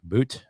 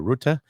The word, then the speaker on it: Rutte: Frank Boot, did I say it right? Or Rutte?